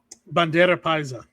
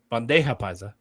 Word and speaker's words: bandeja paisa: Bandera paisa. Thank you. Bandera paisa. Bandeja paisa.